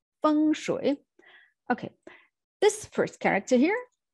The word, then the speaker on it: feng shui: doesn't really sound well feng shui see voice goes down and up again feng shui okay this first character here stands for wind and the second one is water so feng shui went water can imagine